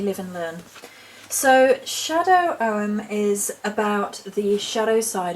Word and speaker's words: Ogham: So apparently I pronounced Ogham wrong, it's Ogham, and therefore I will attempt to remember to say Ogham rather than Ogham, so apologies.